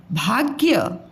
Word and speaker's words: भाग्य: भाग्य, भा आधा ग और य, भाग्य। भा और य की साउंड पूरी आ रही है, ग की कम आ रही है, इसलिए आधा है।